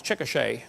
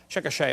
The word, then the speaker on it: Chickasha: it 2005 textbook and i pronounced it wrong as chickasha not chickasha chickasha oklahoma i got corrected during